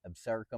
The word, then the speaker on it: Absaroka: We were in Wyoming at a remote ranch in the Absaroka Mountains.